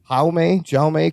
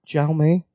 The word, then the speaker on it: Jaume: Jaume Colette Serra. Jaume.